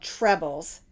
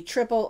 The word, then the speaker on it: treble: Stitch they're also called trebles it can be triple or treble however you want to pronounce it I like calling it triple because we have doubles and triples all right chain two